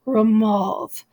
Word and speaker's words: remove: I'm loved and remove in the original pronunciation they very likely did rhyme the O sound there was probably an O swanned and uh love and it removed was probably pronounced romuald so love and remove would have right so it follows a